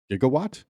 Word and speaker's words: gigawatt: This is this is the now obscure but once standard pronunciation of the word gigawatt, 1 billion watts. Nowadays, it's usually pronounced with a hard G. In romance languages, however, it's pronounced with a soft G.